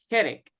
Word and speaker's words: headache: is correct capture no headache remember it sounds is the CH sounds like a letter k okay hit it yes